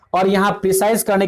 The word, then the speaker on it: précis: शुरू से मैंने यहां पर बताया कि डिफिनीशन क्या होता है, फिर ये प्रेसिस शब्द है इसकी उत्पत्ति कहां से हुआ है, और यह फ्रेंच शब्द है इसका उच्चारण प्रेसी होता है।